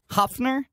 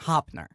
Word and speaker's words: Hoepfner: Hoepfner? That's really close. Ooh, baby. The P is silent. It's just Hoepfner. Hoepfner.